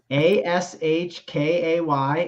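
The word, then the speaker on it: Akshay: So give me Ashke over Harry Hall at minus 122 on the FanDuel Sportsbook. Gosh, how do you even spell that? Ashkay, and then Bhatia is Bhatia.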